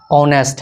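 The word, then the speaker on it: honest: यहाँ पे क्या है, ऑनेस्ट है, ऑनेस्ट में एच साइलेंट है, एच जब साइलेंट होता है तो उसका प्रोनाउंसिएशन ओ से शुरू होता है, ठीक है।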